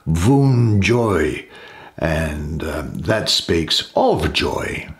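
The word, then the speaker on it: Wunjo: letter here that's well no one knows how exactly it was pronounced but it's thought to be pronounced voon joy and that speaks of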